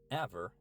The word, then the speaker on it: Æver: Aver is the Norwegian pronunciation, but you can also say a first.